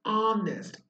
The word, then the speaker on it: honest: Now, when you say honest, actually, your sound vocal coming out is honest. Oh, the sound of O is coming out, and the sound of H is silent.